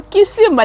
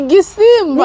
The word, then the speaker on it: Gisimba: abantu twiganye kuri NCT Gisimba hejuru Gisimba NCT Gisimba yes kunaga pronounce ngo Kisimba ni Gisimba ni Gisimba rumva twari turi gukora